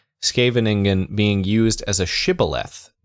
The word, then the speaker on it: Scheveningen: rather than the native Dutch sequence of the voiceless alveolar sibilant followed by a voiceless uvular fricative, or sk, as in, there's helpfully an English example here, as in Genghis Khan. The Genghis Khan. The Khan part of it? The Khan. The Genghis Khan. Genghis. Khan. Khan. So it's Scheveningen.